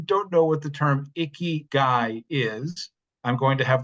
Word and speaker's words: Ikigai: of you who don't know what the term icky guy is I'm going to have the wonderful Sarah